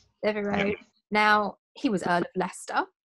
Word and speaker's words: Devereux: They were, the guy who was sort of, was it the head of blocking them in, was Robert Devereux, if I pronounced that correctly? Yeah. Devereux.